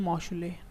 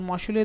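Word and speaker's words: Mauchly: तो बनाया गया था, लिखोगे आप, बाय जॉन मॉशुले। ठीक है, क्या नाम है उसका? John मॉशुले, spelling JOHN, John MAUCHLEY, John मॉशुले द्वारा बनाया गया।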